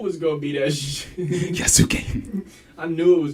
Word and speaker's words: Yasuke: Yasuke. I knew it was gonna be that shit. Yasuke. I knew it was gonna be K whenever you kept saying Key.